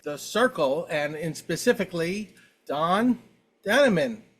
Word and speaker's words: Dannemann: This is Aaron at Popaholic, and I am talking with the Cyrkle and specifically Don Daneman. Did I pronounce that right? Don Daneman, that's Yes. correct.